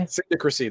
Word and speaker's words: Syndicacy: it cindy christie okay syndicacy that's how you pronounce it sounds weird it is it's just like the word magistracy i hate that word